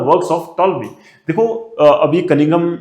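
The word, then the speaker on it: Ptolemy: एक Greek geographer है टॉलमी, इसमें पी साइलेंट रहता है, जिसको हम टॉलमी पढ़ते हैं।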